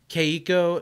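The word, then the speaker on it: Keiko: the letters k-e-i-k-o k-co kay eco no in japanese you pronounce every vowel interesting okay and the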